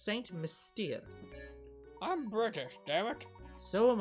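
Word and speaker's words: Saint Mystère: love how many people keep mispronouncing this town's name it's saint mystere i'm british dammit so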